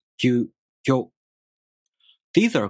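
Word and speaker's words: ぎゅ: These are pronounced with the g sound for gi plus a, u, o.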